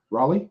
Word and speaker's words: Raleigh: how to say that name the capital yeah Raleigh was it Raleigh is how you say it